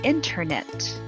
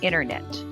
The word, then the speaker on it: internet: silent after an n the t after an n is often silent in american pronunciation instead of saying internet a lot of americans will frequently say internet generally it is informal